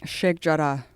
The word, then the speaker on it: Sheikh Jarrah: Sheikh Jarrah.